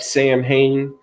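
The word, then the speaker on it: Samhain: You could go look it up, Sam Hain, but it's pronounced Soin, but it's Samhin.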